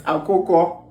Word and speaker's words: akoko: Is it a koke? A-K-O-K. I don't know. A koke? Jesus! A koke. It's akoko.